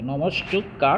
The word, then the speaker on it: নমস্কার: যে দন্তসটা উচ্চারিত হয়েছে নম দিয়ে বিসর্গ দিলাম সেই বিসর্গ উচ্চারণ হচ্ছে দন্তস দিয়ে নমস্কার সমান সমান নমস্কার এরপরে